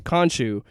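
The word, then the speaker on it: Khonshu: so you've got to explain uh I can't pronounce the name Konshu you got to introduce them you got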